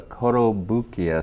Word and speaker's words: Kotobukiya: Okay, so this is Nightwing from the Kotobukiya series.